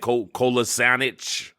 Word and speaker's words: Kolasinac: Kolasinac. No, you had it.